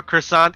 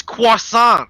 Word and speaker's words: croissant: like sometimes they'll up the pronunciation or they'll like americanize it or anglify it yeah like can i have a croissant it's croissant yeah or like bayonet or even in japanese